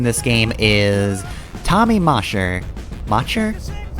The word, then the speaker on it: Macher: Macher. It's M A C H E R. So, it's probably Mer. So, anyway, uh, I mentioned